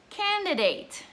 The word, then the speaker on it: candidate: So, you register to vote, and then you have to choose your candidate, okay? Candidate or candidate. Very well, two pronunciations, yes?